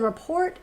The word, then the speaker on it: rapport: a way to build rapport I said report but I meant Rapport because I'm not dumb and I know how to pronounce that and Foster a sense